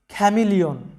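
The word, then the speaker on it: chameleon: তারপরে দেখো খ্যামিলিয়ন, যেটার বাংলা অর্থ হচ্ছে বহুরূপী। এরপরে খেয়াস, এখানে লক্ষ্য করো সিএইচ এর উচ্চারণগুলো আমাদের ক এর মতো হচ্ছে, খেয়াস, বিশৃঙ্খলা।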